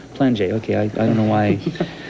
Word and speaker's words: Plainguet: wanted to ask you, how does a guy whose name sounds Plainguet end up having it pronounced Plainguet? I mean, it's French. You ask my parents. It's just regular French pronunciation of right, your name?